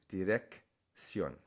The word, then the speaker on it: dirección: Direction, dirección. In other words, the first C is a hard sound, and the next one is that S sound.